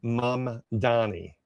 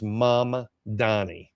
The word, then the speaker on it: Mamdani: So anyway, this is the guy right here, Zoron Manni. So it's Say it right because I've been getting it wrong the whole time. It's Mama Donnie.